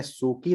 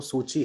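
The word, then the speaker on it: Suu Kyi: आंग सांग सूची इनको बोलते हैं, म्यांमार में सूकी नहीं है, वो सूची है, तो प्रोनाउंसिएशन के लेवल पे थोड़ा सा देखिएगा क्या हुआ।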